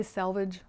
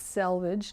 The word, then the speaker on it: selvage: and i probably say salvage wrong i think it's selvage not salvage so i think i did